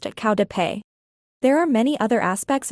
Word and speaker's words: qaug dab peg: Qaug dab peg, literally, the spirit catches you and you fall down. The Hmong term for epilepsy is pronounced qau de pei.